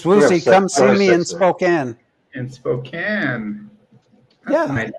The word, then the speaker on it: Spokane: Anyone who's watching Spokane pronounces it Spokane. Spokane. Spokane.